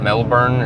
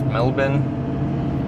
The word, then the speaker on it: Melbourne: you're like Melbourne or that's how you guys pronounce it right it's not Melbourne it's Melbourne uh you in like New South Wales uh